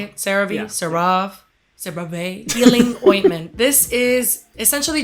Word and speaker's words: CeraVe: And that's the CeraVe. Oh, wow. Is that how you say it? CeraVe? Yeah. CeraVe healing ointment.